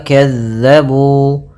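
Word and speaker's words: كذبوا: Pada bacaan wa kazzabu, hati-hati dalam melafalkan huruf zal yang dimana zal ini pelafalannya dari ujung lidah kita menempel dengan gigi sari atas kita.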